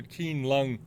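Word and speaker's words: Qianlong: had an old Keelung kinesics pronounced a keen lung mark on this isn't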